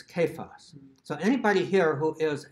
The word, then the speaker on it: Cephas: C in English, because it is not pronounced with a soft C anywhere in the tradition of the language. So that word is not Cephas, it's Kephas.